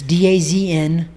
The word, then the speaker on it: DAZN: a great fight this if you guys get dizone it's going to be on the zone though okay it's d-a-z-n but it's pronounced dazn if you get that oh my